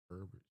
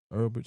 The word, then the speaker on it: Ulbrich: Ulbrich. Earlbridge.